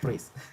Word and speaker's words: Ruiz: So my complete name, and also with the correct pronunciation, is Ruiz. It's super long and it has this R sound from Spanish.